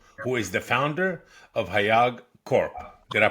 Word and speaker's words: HAYAG: Today we're delighted to have our guest Hema Lakkaraju, who is the founder of HAYAG Corp. Did I pronounce it right? HAYAG, correct?